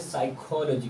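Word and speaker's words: psychology: है खामोश रहता है जैसे साइकोलॉजी और पीएस यहां पे मिलकर आया है तो पी जगह क्या है साइलेंट है तो साइकेट्रिस्ट साइक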